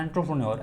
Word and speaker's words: entrepreneur: Okay, ENTRE, enter होता है लेकिन एंट्रे पढ़ते हैं, एंटरप्रेन्योर, ऐसे एंटरप्रेन्योर।